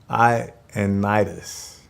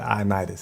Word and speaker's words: Ioannidis: False start was by Matt Ioannidis. Matt Ioannidis.